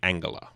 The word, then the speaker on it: Angela: in Germany you say Angela oh Angela yeah not a soft G oh I didn't know